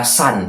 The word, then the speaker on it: Sun: Sun itu bacanya sebenarnya dari kata san, matahari.